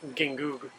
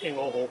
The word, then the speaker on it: Gingoog: For example, this city, an American might pronounce the name Gingoog, but if you use the Spanish pronunciation rules, those G's are pretty much silent, so it's actually pronounced Ingoho. We're at a fruit market.